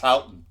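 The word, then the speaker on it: Houghton: I have a nephew who gives me a hard time about how I pronounce Hton, but to me it's H Hotton, Michigan, but here it's Hton.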